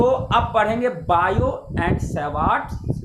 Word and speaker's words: Biot: अब हम लोग जानेंगे बायो सेवार्ट का नियम, बायो सेवार्ट्स लॉ। ध्यान रखना है, बायो टी यहाँ पे साइलेंट है, इसको बायोट नहीं बोलेंगे, बायो बोलेंगे, टी साइलेंट है।